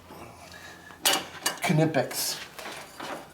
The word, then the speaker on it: Knipex: are good pliers those nitpicks flowers were good knipex nitpicks not good in epics nitpicks she was actually pronounced it correctly for once she obviously watched